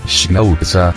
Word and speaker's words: Schnauzer: Schnauzer, pronunciado en alemán, Schnauzer, es una raza canina que se originó en Alemania durante los siglos XV y XVI.